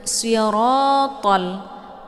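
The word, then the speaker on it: صِرَاطَ: Nah, untuk siratal, si tebal ya. Siratal ladzi, ta jangan ta ya. Ra tebal, si tebal, ra tebal, kemudian ta juga tebal. Ini ketiga-tiga hurufnya itu dibaca tebal ya.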